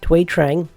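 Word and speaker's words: Thuy Trang: there the Vietnamese born actor through it's twee twee Trang not not food not food it's twee I had a lot of trouble pronouncing it first but it's twee and I'm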